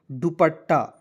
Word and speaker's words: दुपट्टा: डी यू पी A double T ए, क्या पढ़ेंगे, दुपट्टा।